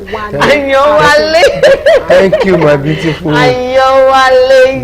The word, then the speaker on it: Ayewale: Did I pronounce that name right? Ayewale.